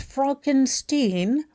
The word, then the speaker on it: Frankenstein: It stars the late, great, and comedic genius Gene Wilder as scientist Frederick Frankenstein, pronounced Frankenstein, the grandson of the great reanimator extraordinaire Victor Frankenstein.